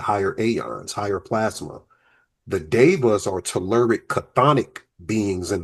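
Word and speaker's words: daevas: I want to speak about these devas because it's not the Vedic devas, but it's pronounced the same way.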